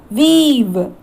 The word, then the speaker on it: we've: But in the contraction, we should pronounce it as weave.